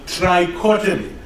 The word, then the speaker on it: trichotomy: So the third axiom is the axiom for total ordering called trichotomy. There are three things. Trichotomy. Rhymes with lobotomy.